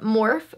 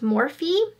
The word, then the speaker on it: Morphe: this brand before um I always want to call it morphe but i think it's pronounced morphe high-impact highlighter and blend